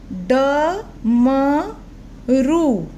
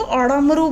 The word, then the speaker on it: डमरू: जैसे ड से रिलेटेड ड म रू, डमरू। फ्रेंड, अगर हम इसके नीचे अड़ा कर देंगे तो अड़मरू बन जाएगा, अड़मरू, जो ठीक नहीं है। तो क्या बना फ्रेंड, डमरू।